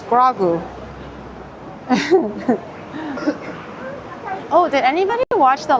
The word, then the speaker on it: Grogu: It's pronounced Grogu.